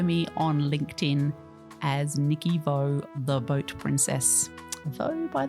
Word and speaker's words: Vaux: you can follow me on LinkedIn as Nicky Vaux, The Boat Princess. Vaux, by the way, is spelled V-A-U-X.